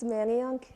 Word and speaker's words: Manayunk: that's located right in the heart of It's pronounced Manayunk, Aiden.